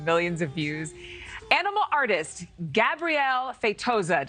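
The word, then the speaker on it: Gabriel Feitosa: Animal artist, Gabrielle Feitosa. Did I say your name right? Yes, you said it right.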